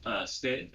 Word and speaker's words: Stitt: Well, I mean, his name rhymes with shit. Yeah, Stitt or whatever. Kevin Stitt.